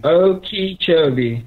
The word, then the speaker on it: Okeechobee: question number four how is Okeechobee correctly pronounced oka Kobe or Okeechobee neither Dave incorrect incorrect that was how is the Big O pronounced how is the Big O pronounced Okeechobee correct Okeechobee yes okay why does Scott Martin